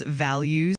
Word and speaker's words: values: It's pronounces values with the emphasis on the first values between I